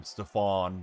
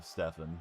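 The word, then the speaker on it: Stephen: first deal with them, they pronounced his name Stfan, like Stfan Urkl for anybody that remembers Family Ties instead of Stefen.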